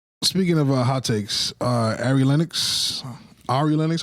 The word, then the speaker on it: Ari Lennox: Speaking of hot takes, uh Arie Lennox, Ari Lennox, how do you pronounce her name? Ari Lennox.